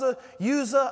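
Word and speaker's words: Uzzah: by the name of ouzo I've heard it pronounced who'sa as a user I've heard it every kind of different way here but this was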